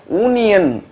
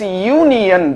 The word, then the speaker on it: union: Whereas for union, we don't pronounce it as union. We pronounce it as union. The first sound is the Y sound. And Y sound is a consonant sound.